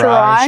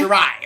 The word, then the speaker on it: Shirai: So Shirai. Shirai. Shirai, okay, Shirai.